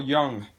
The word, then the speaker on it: Jung: Alright, now according to Carl Jung, the J is silent.